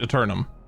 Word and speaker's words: Eternum: Oh, that's how it's pronounced. Eternum.